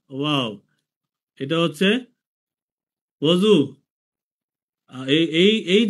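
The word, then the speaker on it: وضو: দ ওয়াও এটা হচ্ছে ওজু। এই এই যে মাঝখানে যে অক্ষরটা দদু মানে ওজু। আমরা কিন্তু বাংলায় অজু বলি। আমরা কিন্তু বাংলায় অজু বলি। তো সুতরাং এইখানে উর্দু ফারসি উচ্চারণ হচ্ছে ওজু।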